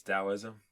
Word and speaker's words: Taoism: It's Taoism? Yeah, I believe it's pronounced Taoism, though it can be spelled either with a T or a D.